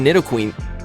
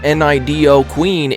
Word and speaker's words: Nidoqueen: And also, there's a lot of Nidoqueen. Yes, somebody finally gave me the correct pronunciation of it. A lot of people were telling me, it's not Nido Queen, it's Nido Queen.